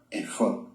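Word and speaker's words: אֵפוֹד: las Biblias en español, en la fonética hebrea original, porque así es como se pronuncia, efod.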